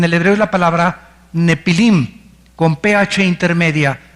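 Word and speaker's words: Nephilim: La palabra gigantes, apúntalo, en el hebreo es la palabra nepilim, con PH intermedia. Nefilim se pronuncia.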